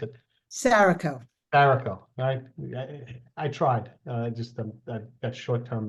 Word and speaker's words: Saraco: I just asked you how to pronounce it, and I think I just mispronounced it. Saraco. Saraco.